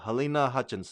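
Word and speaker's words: Halyna Hutchins: I keep I don't want to misspeak or mispronounce her name. Helena Hutchins.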